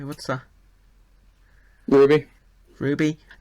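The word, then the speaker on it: RWBY: Ruby. Ruby. Uh, why didn't you just say Ruby? Just say Ruby.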